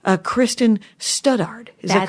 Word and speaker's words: Studard: Nuys, and it's Kristen Studard. Is that correct? That's me, Kristen Studard. Studard. Yeah, there you go. I like it. It's. I wanted to emphasize, make sure I was saying all the syllables.